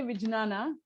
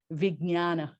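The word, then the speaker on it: vijñāna: of the courses yeah you can say wijnana it's just that that's that's more on north indian or tibetan pronunciation and then south indian or the original sanskrit pronunciation is vignana mignan so like a gnya mignan in a good good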